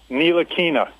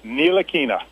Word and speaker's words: Ntilikina: Frank Ntilikina.